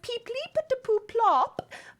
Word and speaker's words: Peep Leap Plop: Well, my spoken name is Peep Leap Plop, but I know it is easier for you non-Kuto to pronounce just the first syllable, so Peep is fine.